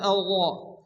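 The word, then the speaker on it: الله: আর-রহমানির, এখানে আল্লাহ অর্থাৎ মোটা করে উচ্চারণ পড়তে হবে আল্লাহ, এবং তার সঙ্গে হ্যাঁ সংযুক্ত হবে, বড় হ্যাঁ, মুখ দিয়ে বাতাস বের করে উচ্চারণ করতে হবে।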